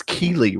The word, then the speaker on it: Keighley: It's Keighley, right? Even though it's spelled like weird.